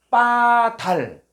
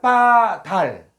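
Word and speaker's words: בָּדַל: 자, 어, 히브리어로 914번은 빠달. 자, 한번 읽어 볼까요? 빠달. 빠달. 예. 여기는 바달이라고 그는데요 바이 아니라 요게 강승. 요게 강승가 붙어. 아, 강승. 요게는 이중점이 붙어서 요게는 비읍인데 쌍 비읍 발음하는 거예요.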